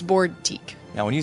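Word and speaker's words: Boardtique: Like it's a boutique, but it's Board Teak.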